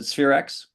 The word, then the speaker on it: Spherex: Did I pronounce that right? Is it Spherex?